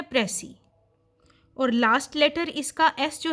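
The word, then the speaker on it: précis: और हम भी पहले प्रेस इसे मुतालिक इंट्रोडक्शन ही देंगे तो सबसे पहले बात आती है उसकी प्रनंसीएशन कि अ है तो उसकी प्रनंसीएशन में जो उसका लास्ट लेटर एस है वह साइलेंट होगा का यूज लिया है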